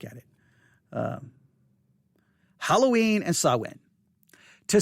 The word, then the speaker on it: Samhain: it um halloween and sawin to say that modern halloween's connections to sawin uh and oh they they add the pronunciation here that's good and parentheses that's sawin by the way thank